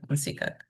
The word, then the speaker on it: Insika: Insika. Is the K silent at the end? Or I should actually pronounce it? Okay, Insika.